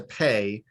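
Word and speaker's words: פ: pronounce it's pronounced yes it's pronounced like the english p but it's not a p it's a pay okay correct yes all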